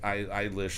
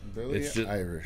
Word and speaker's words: Eilish: Eilish. I can never say her name without saying Irish. It's just... Billie Irish.